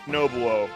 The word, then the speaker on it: Nobuo: Nobuo! Uematsu! Yes! Oh, Uematsu! Definitely not pronounced Nobu like in the song. I don't know how it is pronounced, but it isn't Nobu. It's Nobuo, I think.